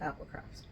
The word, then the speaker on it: APL Crafts: Dyer and maker behind Apple crafts and it's it's spelled APL crafts but it's pronounced Apple craft I thought I was